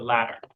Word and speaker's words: latter: the latter latter one careful with the pronunciation the stresses on the first part lab so it's like laughter the latter probably the latter um